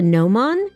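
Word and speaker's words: gnomon: did you know that the piece that sticks up on a sund dial is called the nomon? It's spelled g n o m o n.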